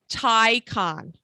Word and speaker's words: Taycan: is it a Taycan or a Taycan? It's a Taycan. Taycan? I phonetically spelled it in my notes.